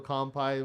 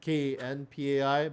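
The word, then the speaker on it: kanpai: show, we do a Kampai, which is basically cheers. Yeah. Actually, in Japanese, it's KNPAI, but, I spelled it with an M just because people I guess they pronounce it more with the M, but anyways.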